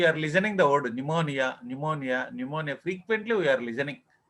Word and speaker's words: pneumonia: Okay, I think first time you are listening this word pneumonia. So here P is silent.